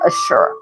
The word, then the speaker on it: Ashur: It looks like it's pronounced like Ashur. So it's Ashur.